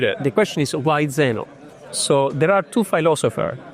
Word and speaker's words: Zenoh: Because people Super alien. call it Xenon, Yeah. but that's not how you would pronounce.